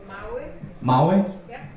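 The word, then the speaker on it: mały: Mawi?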